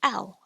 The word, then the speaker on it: ao: AO is pronounced ow as in cow.